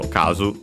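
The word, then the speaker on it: 数: uh and yeah as uh I was correct it's extent on the first syllable so kazu uh to the right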